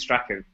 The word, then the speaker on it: Strachan: uh how do you pronounce his name James Strahan I don't know how you say oh as far as I know it's James Strachan Stratford yeah once he left then that's when